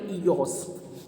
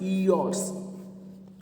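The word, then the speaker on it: Eos: ई silent नहीं है, ईओस पढ़ेंगे, ठीक है? क्या पढ़ेंगे? ईओस, okay. क्या नाम है? Goddess ईओस। आर साइलेंट है, ठीक है? ईओस, इस तरीके से गॉडेस ईओस, ये जो फेरी है, ठीक है।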